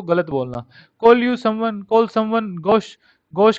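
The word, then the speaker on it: gauche: होता है बद्दा, गोश, ये इसकी प्रोनाउंसिएशन है गोश। ओके, ची गोची गोची का ऐसे कुछ गोची गोची ऐसे नहीं करना है, गोश आपको ध्यान रखना है, इसकी प्रोनाउंसिएशन है गोश, GOSH, ऐसे प्रोनाउंसिएशन करनी है, स्पेलिंग ये याद रखनी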